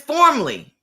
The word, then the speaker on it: Formley: Don't start the 15 No, minute I keep saying it wrong. It's Formley.